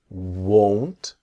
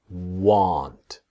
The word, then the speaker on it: won't: not will become won't and then won't is very different to want. This is the pronunciation part that will not is won't. If you see the mouth is small won't but want is different that this part here comes down want. Practice won't want. Here want. Okay. Won't want. That's the difference.